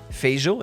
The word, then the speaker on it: Feijó: I was told that the J, so the J in Portuguese, is very similar to the French J, like je m'appelle, so Feijó, is that correct?